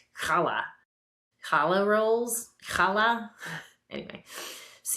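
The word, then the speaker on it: challah: It's not chala. It's kala.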